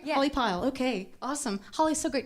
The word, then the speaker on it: Holly Pyle: pyle is that how you say it right holly pyle okay awesome holly so great to have you